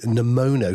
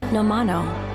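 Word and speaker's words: Nomono: And indeed, is it even pronounced Nemono? I think it's pronounced Nomino. A bit like the Muppets. No, you can't say that. Yes, exactly. I had that straight in my head. James from the Edit again. It turns out it's pronounced this way. Nomano.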